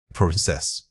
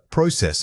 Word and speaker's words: process: Process, noun. Process, verb. The primary emphasis shifts from the first syllable to the second.